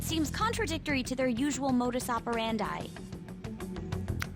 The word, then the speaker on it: modus operandi: contradictory to their usual modus operandi modus operandi is that how you pronounce it I thought it was moderandi modus operandi well I learned something today did principal kobayakawa seem